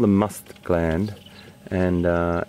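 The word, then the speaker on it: musth: It's called the must gland, and that's spelled M-U-S-T-H, M-U-S-T-H, must.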